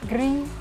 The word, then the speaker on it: gris: Your E pronounced like I from Spanish. I don't know, guys. I don't know other languages. Gris with a rolled R.